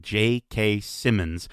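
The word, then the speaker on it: J.K. Simmons: Hansen, Adam Bartley, and JK Simmons, which by the way, have I just been pronouncing JK Simmons with a D my entire life? And it's there's no D in his name.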